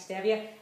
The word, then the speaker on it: stevia: Some people pronounce it stevia, it's actually stevia.